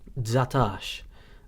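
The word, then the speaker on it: dsatax: help you get a feel for the Maltese pronunciation patterns. Anyway, let's continue with the numbers. Dzatash, dzatash, dzatash.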